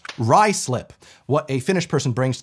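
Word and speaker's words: Ruislip: no no no no not Roy slip don't forget ignore C letters in the first syllable in this case it's the U pronounced Ry slip what a finished person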